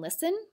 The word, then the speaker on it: listen: There are a lot of other words with a silent T, like castle and listen.